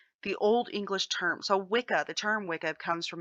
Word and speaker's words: Wicca: things evolve and change it's pronounced wicca it's not pronounced witcha please don't start pronouncing